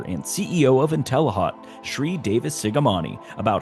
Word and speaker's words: Sri: to meet you George my name is pronounced Shri and I just go by Shri and interestingly where I